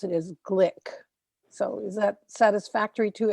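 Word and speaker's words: Glück: I found that said it rhymes with click so I'm going to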